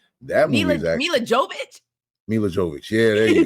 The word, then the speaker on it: Jovovich: But that movie is actually Mila Jovovich. Mila Jovovich. Yeah, there you go. I call Mila, her Javokovich, whatever, and just be tearing her name up.